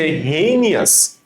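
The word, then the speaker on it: heinous: আসলে যখন তুমি উচ্চারণ করবা হেইনিয়াস, তুমি জিনিসটাকে এভাবে পড়বা, হি এর সাথে in plus O ইউ এস, আস। তার মানে আর জীবনে সমস্যা হবে না। আমরা কিভাবে পড়বো? হি ইন আস।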